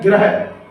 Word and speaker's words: ग्रह: इसमें पदेन्द्रा लगा है और इसमें ऋषि की मात्रा लगी है, दोनों में अंतर है। ठीक है, प्रोनाउंसिएशन एक बार करके बताते हैं आपको। ये है ग्रह, क्या है?